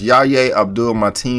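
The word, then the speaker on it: Yahya Abdul-Mateen: had a great presence his name is pronounced Yaya Abdul mighty in the second if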